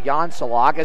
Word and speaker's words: Jan Salak: Well, the PA guy butchered that one, but we'll forgive him. It's actually Jan Salak.